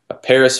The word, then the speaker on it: Parys: how it's spelled yeah it's just uh PA are Y s so Paris France but instead of an eye a why right because that way